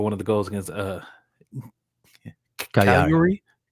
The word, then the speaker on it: Cagliari: Like, you said key the move for one of the goals against Cagliari. Did you just say it without pronouncing the G at all?